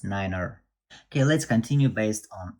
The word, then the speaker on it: niner: and the only way one number is nine which pronounce niner okay let's continue based